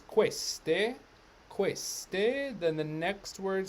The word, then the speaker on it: queste: all right next word q u makes what sound is it hard k or is it that's right it's queste queste then the next